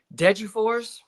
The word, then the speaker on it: Degerfors: Degerfors.